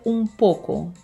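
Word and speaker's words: un poco: Зверніть увагу на це ум поко. Як бачите, ми пишемо ун поко з ене, а вимовляємо ум поко з еме.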